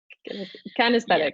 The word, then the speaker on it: kinesthetic: Okay, so our last ones, and I can never pronounce this correctly. Will you do it for me? Kinesthetic. Kinesthetic.